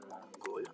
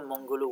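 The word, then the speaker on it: Монгол: which is Mongol, and it's spelled with an O in Cyrillic, but I think it's pronounced like a back vowel, like a U, a high back vowel, so it's going to be Mongol, I think, in my language.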